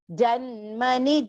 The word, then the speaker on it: जन्मनि: are long pronunciations mudha janmani janmani so do not stretch that janmani ni there is because both the ni there are short pronunciations mudha janmani janmani mama